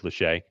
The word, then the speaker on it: Lachey: Luke Lachey. Yeah. That's how you N pronounce it.